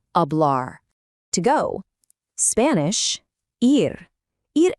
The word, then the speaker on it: hablar: And hey, there's our old friend, the silent H popping up again in the word hablar.